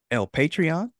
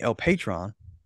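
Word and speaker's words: El Patrón: five nicknames he's called el patreon excuse me El Patron El Patron I got to get this pronunciation right El Patron which means the boss I should have known that because Patron is a drink uh Don Pablo which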